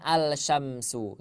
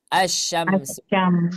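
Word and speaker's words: الشمس: kemudian ada huruf syin Apakah kita membacanya alyamsu tidak tidak ya tidak membacanya alsyamsu tapi kita membacanya asyamsam Iya Ustaz kan karena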